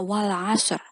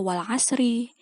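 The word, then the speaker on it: وَالْعَصْرِ: Ayat yang pertama bacanya wal asr. Ingat, huruf shot, bukan sin ya. Huruf shot. Wal asr. Jadi, ro-nya bukan dibaca wal asri.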